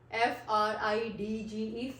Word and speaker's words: fridge: If DG comes together in any word, then we always drop D.